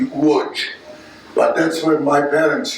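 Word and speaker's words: Łódź: larger city in poland called lodge or more the polish pronunciation would be wood but that's where my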